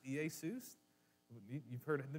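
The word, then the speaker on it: Ἰησοῦς: In the Greek, you would pronounce it Iesus.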